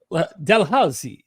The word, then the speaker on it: Dalhousie: Yeah, except Dalhousie. There's all these old Scottish names, so I'm sure they'd yell at you if you didn't roll your R's properly. Dalhousie University in Canada.